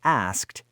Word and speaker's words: asked: So to make it past tense, we follow rule number one and add an unvoiced t. That means the word asked ends in three unvoiced consonants in a row. S, K, T.